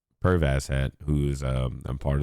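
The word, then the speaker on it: Perv Asshat: this show but uh perv ass hat that's exactly how it's it's said and that's exactly how it's spelled PE RV as s h a t it is what it is pervas hat who is um a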